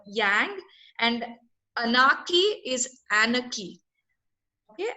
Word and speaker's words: yang: So some of the pronunciation that people can correct was, Vidhu, you pronounced yang as young, so yang, and anarchy is anarchy.